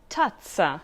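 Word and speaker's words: tazza: sound so who knows when you see a double z most of the time you pronounce it more sharply like for example tatsa for cup or mug when z or zed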